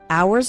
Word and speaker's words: hours: hours and hours remember the H in the word hours is silent so don't pronounce it at all hours and hours and the